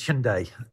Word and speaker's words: Hyundai: important in the uk most people would say hyundai and i've heard hyundai what is the right pronunciation because obviously it's a korean word the korean pronunciation is hyundai sunday it has a good meaning doesn't it